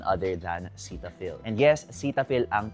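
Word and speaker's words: Cetaphil: And yes, Cetapil ang pag-pronounce sa kanya apparently. Pero hindi ko naman kayo dinidiktahan kung gusto niyong i-pronounce siya ng Cetafil.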